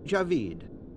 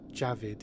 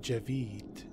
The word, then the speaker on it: Javid: pronounced by Frank Herbert Javeed as you can hear it is not Javid it's Javeed Javeed some pronounce the